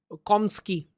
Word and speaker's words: Chomsky: ये चॉम्स्की या you know कॉम्स्की, एच is silent, आपका मन है जैसे चाहे पढ़ ले।